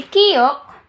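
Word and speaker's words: 키읔: When I say aspirated, you have to produce more air para ma-pronounce natin siya na maayos.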